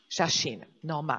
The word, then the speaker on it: Shashin no Ma: We will be discussing your film, and correct me if I will not pronounce it well, Shashin okay. no Ma. Shashin no Ma. Shashin no Ma.